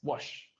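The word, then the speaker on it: Łoś: Polish Polish guy and this you pronounce it like a w this is this is like this wash so it says the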